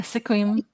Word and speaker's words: Sequim: Yeah, Sequim.